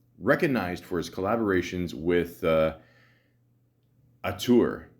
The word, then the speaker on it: auteur: Born November 19th, 1983, is an American actor recognized for his collaborations with Auteur. Is that how you say it? Auteur. No, a tour, isn't it? Yeah, Auteur.